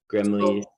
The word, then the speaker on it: Grimley's: Oh, I think because it has a lot of R's and L's and Y's and S's. Grimley's.